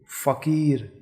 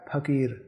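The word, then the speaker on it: फ़कीर: तो इसके प्रयोग से क्या बन जाता है? फीस, फरेब, फकीर। अब मान लीजिए कि बिंदी हटा देते हैं तो ये होगा फकीर, अब फकीर, अब फरेब, फरेब। उच्चारण में समझ रहे हैं?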